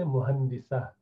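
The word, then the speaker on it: مهندسة: But you pronounce, when you stop at that ha, you would say muhandisa.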